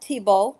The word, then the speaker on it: Thibault: Pronounce it Tibbs just like Tim Tebow. Tebow Tebow I keep I keep saying Tebow Tebow it's Tebow. Tim Tebow like Tim Tebow it's easy to remember.